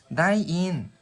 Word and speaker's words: ได้ยิน: 바로 읽으실 때 다이인, 다이인 이라고 발음하시면 들리다라는 동사라서요.